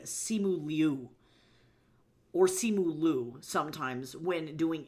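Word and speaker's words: Simu Liu: but he pronounces his name Simu Leu or Simu sometimes when doing interviews.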